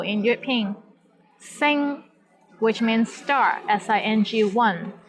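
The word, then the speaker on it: sing1: Sing, which means star, S-I-N-G-1. Here the initial sound is S, and final sound is ing, I-N-G. And the syllable is in the first tone.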